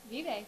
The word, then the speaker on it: Vive: Vive or Vive? Vive. Vive, all right. Spanish pronunciation.